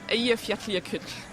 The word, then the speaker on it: Eyjafjallajökull: And it's pronounced Eyjafjallajökull.